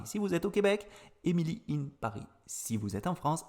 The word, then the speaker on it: Emily in Paris: la série en france on dit émilie in paris on le prononce à la française si vous regardez cette série au québec vous allez francisé cette seconde série et ça va être emilie à paris tout simplement alors peut-être